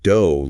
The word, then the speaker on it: DOGE: This DOGE initiative, pronounced DOE like rogue, isn't just about economic theories, it's about real people, real communities.